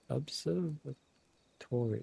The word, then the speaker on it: Observatorium: Observatorium. That is how you say it.